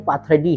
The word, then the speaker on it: पाथडी: पहला रेफरेंस जो है जो इससे पहले मैंने पाथरी गांव का जिक्र किया था। हालांकि हमारे कोई व्यूअर है। उन्होंने कहा कि यह पाथरे नहीं पाथडी है।